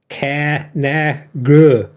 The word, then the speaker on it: Conagra: Conagra. It's like bro. Hey bro. Conagra.